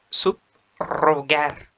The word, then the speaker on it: subrogar: Se escribe con una R, pero se pronuncia o su pronunciación es fuerte. Por ejemplo, subrogar, subrayar، subrayar.